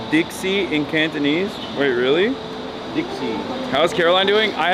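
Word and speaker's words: 的士: Taxi is pronounced pronounced Dixie in Cantonese.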